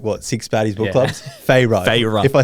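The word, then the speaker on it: Feyre: but My predictions were Freya F. No, here's Okay, sorry. That's the only time I'm going to say it wrong. Fra. Fra. Yeah, that after we've done like what, six baddies book clubs. Fyra.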